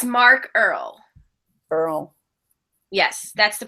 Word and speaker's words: Earl: Earl. Yes, that's the pronunciation for anybody dying to know, other than me, because I was really dying to know.